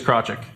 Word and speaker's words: Krawcyzk: The easiest way to say it is Krawcyzk.